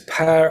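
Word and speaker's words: Pär: Swedish name so it's power enquist you pronounce the first name sort of like a pear the fruit or a pair of jeans or a stereo pair some co-founder of a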